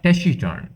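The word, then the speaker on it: taciturn: এরপরে এটার উচ্চারণ হচ্ছে ট্যাসিটার্ন।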